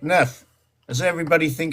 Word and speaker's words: neuf: They say neuf in French. That's how they say it, neuf.